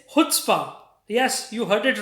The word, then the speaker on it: chutzpah: Suddenly has become very popular, and yes, but the pronunciation is quite tricky. It's not chutzpah. It's chutzpah.